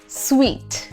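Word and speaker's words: suite: है वो एक जगह जिसको लिखते हैं एस य आई टी ई और कैसे पढ़ते हैं स्वीट एक्चुअली जो मीठे वाला साउंड होता है ना exactly S यू आई टी ई को भी स्वीट पढ़ते हैं इट्स अ स्वीट ही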